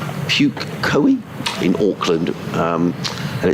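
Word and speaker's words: Pukekohe: a place called uh pukahoei which is p-u-k-e-k-o-h-e puke koei in auckland and it's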